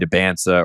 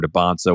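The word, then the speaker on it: Dybantsa: I think it's AJ Debansa or Debonsa, whichever one you want to use.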